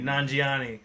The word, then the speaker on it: Nanjiani: Kamal, how do you pronounce the guy's name from Eternal? Kamal from the Kamal Eternal. Nanjiani? Yes, thank you, Nanjiani.